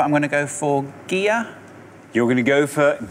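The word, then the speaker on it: Gigha: I don't know how you pronounce it, but I'm going to go for Gear. You're going to go for Gear. That's how you say it? Yeah. Very good. There is Gear.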